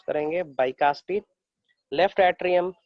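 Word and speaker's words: bicuspid: Right atrium called बाइकास्पिड, है ना, इसको हम लोग प्रोनाउंस करेंगे बाइकास्पिड।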